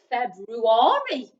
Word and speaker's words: February: we've got february and we said that the r is tricky in that one because it is silent we don't hear it we've then got the u again and the a again making the same sounds as in january so february it's spout